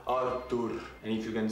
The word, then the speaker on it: Artur: hello my friends my name is Arthur not Arthur not Arthur arur and if you can